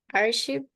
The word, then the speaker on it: achieved: Achieved. Achieved. Achieved. Yeah, Okay. achieved. Achieved. Yeah, and this is completed. Completed. Two different final pronunciations, yeah? Because this is with the, achieved, and this is with completed. Completed.